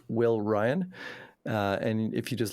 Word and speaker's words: Wi12yn: the twitch so my my music is all under w i one two y n it's pronounced will Ryan uh and if you